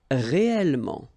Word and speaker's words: réellement: Okay, so remember when you've got this here and then it's followed by two consonants and then they are the same consonant like here, the sound of the changes and it's open, it's a. So that's the reason why you've got this réel.